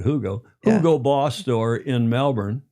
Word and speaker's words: Hugo: And we went to the Hugo Boss Yeah, Hugo you would say in the West, but Germans pronounce it Hugo.